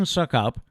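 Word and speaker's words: Succop: It came down to Ryan Suckup. Is that how you pronounce his name?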